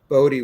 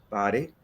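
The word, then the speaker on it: Boddie: I pronounced his name Bodie once, but it's Body, who is with the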